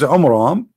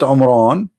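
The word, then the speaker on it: Amram: the father of Moses which is AMRAAM not Imran Imran wrong pronunciation wrong name I mean have you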